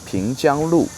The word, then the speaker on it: Pingjiang Lu: Today I'm walking along the Pingjiang Road, Pingjiang Lu, one of the most famous old streets in Suzhou.